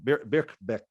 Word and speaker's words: Birkbeck: abbreviation it's in philosophy from the uh bierbach birkbeck is that correct how i'm pronouncing it yep back back yep college in